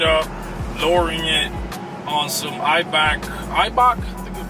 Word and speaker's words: Eibach: I mean, we're planning on lowering this Durango, of course, tinning it up, lowering it on some Eibach, I think you pronounce it, Eibach special edition springs made just for the Trackhawks and Durangos, Durango Hellcats.